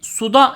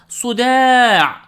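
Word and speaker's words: صداع: Sude Çaylak Arapçası gibi suda şeklinde telaffuz etmesi sakın Şifa olmaz ayın harfini başının çatladığı ölçüde çatlatarak elif’ten dolayı da bir nebze uzatarak Sude şeklinde okumalısın bir egzersiz bir bardak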